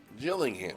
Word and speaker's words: Gillingham: Trophy group section against, is that a hard G or a soft G? I've never been sure. Gillingham or Gillingham? It must be Gillingham, right? Oh, excuse me. Woo! Gillingham. Okay, so it's the soft G. That sounds like a J. That's kind of what I was leaning towards.